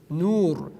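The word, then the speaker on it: نور: Again, here we have to pronounce the letter ra in tafkhim. Why? Because ra is sukun, it has a sukun at the top, and it comes after waw maddi. There, in this example that you see, that waw is called waw maddi or maddi waw. Nur, nur. We pronounce it nur.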